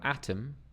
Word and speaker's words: atom: because of the apostrophe stress can also change pronunciation so here we have atom atom then we have Atomic Atomic ATM so we have that wide open a sound ATM and then